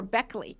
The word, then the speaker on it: Baechle: YouTube I mean and your spelling which you people will see on the podcast of B AE c hle e is very different than the uh American uh pronunciation for Beckley you know I so